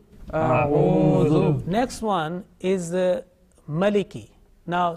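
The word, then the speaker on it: أعوذ: Again, Dhal, soft and thin. Not mingling, not mixing with the sound, with the, like a buzzing sound, like Za. Okay, atuz zakat, not that one, dhu. A'udhu. A'udhu.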